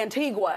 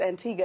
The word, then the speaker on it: Antigua: to the antique mm-hmm we like to say Antigua in the States but it's definitely not how you pronounce it so it's Antigua and so although I